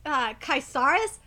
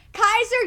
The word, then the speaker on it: Kaiser: Kai's are not what's this kai Sarris that's not what it is and it's spelled I gotta say it it's spelled ka a.k.a e SI r and I'm gonna say Lumumba name here Kaiser you're a bitch you're